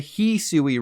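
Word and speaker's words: Hisui: additionally to my surprise the official Pokemon YouTube channel calls the Hui region the heui region your adventure is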